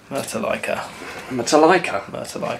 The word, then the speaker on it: Metallica: Metallica, yeah, that's how it's pronounced.